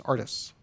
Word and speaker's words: Artis: And I do want to say that the internet is telling me that actually the way you pronounce Nate's last name is Artis.